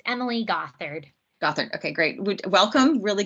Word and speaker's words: Gothard: Yes, it's Emily Gothard.